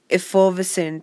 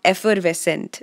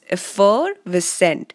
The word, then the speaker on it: effervescent: Again, the focus has to be on effervescent, so not effervescent, it's effervescent. So try and put the stress at the right place.